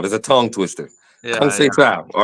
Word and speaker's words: Conceição: Conceição. There's a tongue twister. Yeah, Conceição, all right?